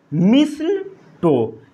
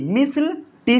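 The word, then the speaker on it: mistletoe: इसका एग्जाम्पल जैसे होता है, इसे पढ़ते हैं हम लोग मिसल टो। क्या पढ़ते हैं? मिसल। क्या पढ़ते हैं बोलिए? MISLE। मिसल टी साइलेंट है यहाँ पर, और क्या पढ़ते हैं?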